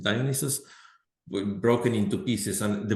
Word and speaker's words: Dionysus: That's how you pronounce it, Dionysus, broken into pieces.